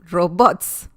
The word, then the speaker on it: robots: right here really small robots robots that's um how you say it in spanish so that's a palabra aguda and it doesn't need